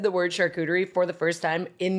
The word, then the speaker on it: charcuterie: Now all I can think about is security, but with a SH. Security? Charcuterie.